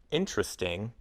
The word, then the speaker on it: interesting: For example, most people say the words interesting and interested with 3 syllables. Interesting, interested. But some people pronounce all 4 syllables.